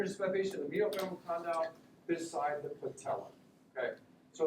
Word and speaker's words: condyle: It's going to be like, oh my goodness, this is a 62-year-old female with medial aspect of the medial femoral condyle.